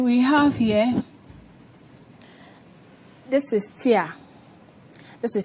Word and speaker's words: TEA: This is tia. T e a. Okay. Um, you can pronounce like T, but when you go to the chemical shop and you say T, they will know what it means.